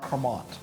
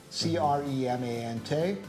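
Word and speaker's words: Crémant: But the other thing that I would encourage people to do is also look out for Cremant. C-R-E-M-A-N-T.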